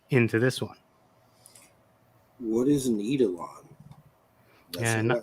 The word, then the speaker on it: eidolon: this one what is needle on yeah right I go with eidolon but different people pronounce it differently and I didn't invent